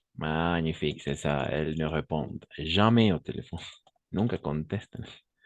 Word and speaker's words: répondent: Elles ne répondent. N'oubliez pas, ENT à la fin, on ne prononce jamais.